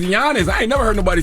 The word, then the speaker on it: Giannis: I'm like they trying to G silent it's Giannis I ain't never heard nobody say gianis Giannis it's like y a n n g